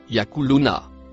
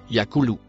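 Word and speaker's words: يقولون: Il se prononce yakuluna. Il est conjugué au futur. Les exégètes l'ont retourné au présent. Au présent, ce sera Yakulou, non pas Yakuluna.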